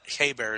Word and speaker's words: Hebert: I bet you I've got 15 Guy Hebert hockey cards here in the house. It's not Hebert. It's Guy Hebert. It's pronounced French, but he's from upstate New York.